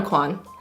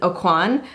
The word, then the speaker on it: Aucoin: wrong I'm so embarrassed it's Kevyn Aucoin I said Kevyn Aucoin which I've said for a really long time because my mom is really bad at pronouncing things that's how my mom said Kevin Oh Quan and so I just kind of repeated what she said and she was very wrong so I blame her